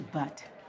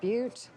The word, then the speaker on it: Butte: I'd like a ticket to Butte. I believe it's pronounced Butte. Oh.